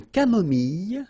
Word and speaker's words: camomille: Un thé nature, une tisane, une camomille. So remember when we get this E and then double L, it goes like y.